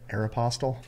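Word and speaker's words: Aéropostale: card aop aop pastel how do you say it aeropostal it's the same amount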